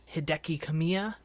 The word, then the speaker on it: Hideki Kamiya: Studio and the talented Hideki Kamiya. Probably pronounced that horribly wrong. No, I think that's right. I practiced, so I think you got it right, yeah.